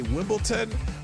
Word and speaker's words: Wimbledon: For some reason, Americans say Wimbledon when it's really Wimbledon.